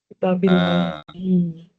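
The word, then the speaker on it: كتاب الله: Kitabillahi ya. Fi kitabillahi ya. Kenapa kitabi bukan kitabu? Karena ada karena ada huruf j ada huruf jar ada fi.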